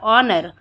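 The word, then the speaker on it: honor: है हॉरिबल सम्मान मतलब ऑनर एच ओ एन ओ आर ऑनर इसमें एच साइलेंट हो जाता है ठीक है फिर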